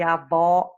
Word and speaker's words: avó: a vogal para vocês avô fechado era masculino e avó aberta era feminina nosso fantasma da sensação